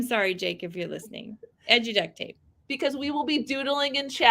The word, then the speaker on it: Edu Duct Tape: Is it EdTech Duct Tape? Did I get that right? Or did I say it wrong? Yeah, it's Edu Duct Tape.